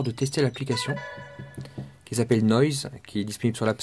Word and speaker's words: Noise: tester l'application qui s'appelle Noise qui est disponible sur l'App Store. Ça s'écrit comme noise N O I S E. Nois, c'est la femme de noix.